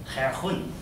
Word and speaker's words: Huygens: Remember, the spelling is H-U-Y-G-E-N-S. And if my ears are correct, those Dutchmen were saying, Herhun.